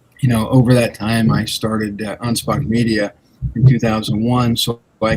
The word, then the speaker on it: Anspach: Anspach. Anspach. Okay, not a ch at the end. It's a K.